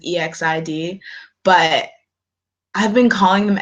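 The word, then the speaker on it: EXID: say this you better drag me okay so exit somewhere in my heart I always know that then it's pronounced ex exi D but I've been calling them exit for so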